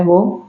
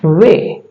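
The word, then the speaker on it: weigh: जी एच यहां पे जी एच क्या है वो साइलेंट है ठीक है हाई इसका उच्चारण होता है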